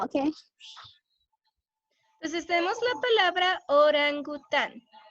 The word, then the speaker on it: orangután: Entonces tenemos la palabra orangután. La sílaba tónica, que es la más fuerte, es tan. Orangután.